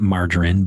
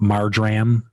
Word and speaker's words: marjoram: teaspoon of dried marjoram, not margarine, but marjoram.